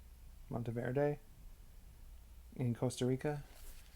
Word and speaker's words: Monteverde: Monteverde in Costa Rica. How do you pronounce that? Monteverde? That's how you would pronounce it in Italian. I don't know how you would pronounce it in Spanish.